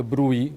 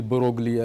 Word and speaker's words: Broglie: revolutionary PhD thesis of the Brouille or the Broglie, as if we pronounce it in a straightforward fashion, the Frenchman.